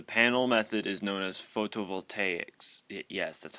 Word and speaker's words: photovoltaics: The panel method is known as photovoltaics. Yes, that's how you pronounce it.